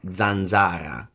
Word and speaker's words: zanzara: As always, remember that you can always Google questions, but since that's a very fun word, I'm gonna pronounce it for the stream. Italian says mosquito as zanzara.